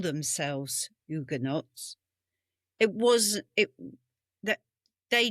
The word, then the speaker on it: Huguenot: So, you wouldn't pronounce the H.